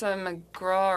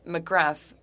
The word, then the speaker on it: McGrath: Miss McGraw or McGrath, I'm not sure how you pronounce that. There are some immigrants in Acadie who wouldn't know how to pronounce it. It's McGrath.